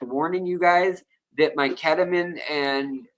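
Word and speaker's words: ketamine: you guys that my ketaman and I'll say it like the Brits ketaman uh and Es ketaman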